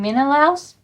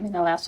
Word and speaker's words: Menelaus: I think it's Odysseus and Menelaus.